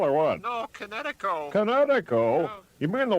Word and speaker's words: Kinetico: Oh, East Coast son, little you should have remembered kinetic as in kinetic energy with an O on the end. Kinetico.